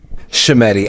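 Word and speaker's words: Schemmenti: Shemetti. Is it Shemetti? Shemetti. And truthfully, I am only pronouncing it this well because thank you, Miss Howard.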